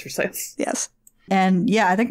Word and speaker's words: Versailles: Yes, it's actually pronounced Versailles. It's actually, It's actually pronounced Versailles.